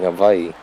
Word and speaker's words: Hawaii: to that no oh does it sound like he replaced the W with the v-sing Hawaii I I did because that's also how it's supposed to be pronounced oh I learned something